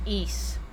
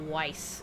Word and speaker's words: Ys: That's pronounced East, dude, not Weiss.